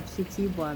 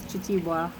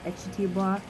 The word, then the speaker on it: Kitiibwa: pronounce it, is actually Kitiibwa Ministries. So the K-I kind of make a C-H sound here. So it's Kitiibwa. Also some people put an E in front of it, so Kitiibwa.